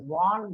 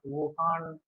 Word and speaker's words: Vaughan: Coming to the classification of antiarrhythmic drugs based on this is to be pronounced as Vaughan William classification, not Wuhan as you are been mentioning, Damodaran.